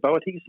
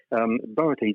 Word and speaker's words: Boötes: Have you ever heard of Boötes? It's spelled B-O-O-T-E-S. I think that's how you pronounce it. The straw hats people wear when they go to private schools, isn't it? Boaters, yes. Very good. Boötes, it means the herdsman or the ploughman.